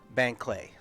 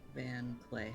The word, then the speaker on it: Banclay: Van Clay. How do you spell that? Banclais. Wow. Yep. Is there a space between Van and Clay? No. It's B. I think it's B-A-N, right? B-A-N. As in boy.